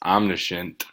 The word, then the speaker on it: omniscient: Friday side video no Margaret just told me that it's not I'm missing its omniscient omniscient so I've been saying it wrong for 80 years right